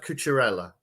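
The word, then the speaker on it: Cucurella: i'm behind his hair um i think it's pronounced couture ella that's what i'm going to go with anyway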